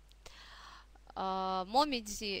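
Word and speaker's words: もみじ: дальше у нас моме момидзи - это жёлтые и Красные листья клёна осенью конечно принято любоваться такой красотой в Японии нас в данном контексте интересует произношение слога Дзи да момидзи то есть осенью японцы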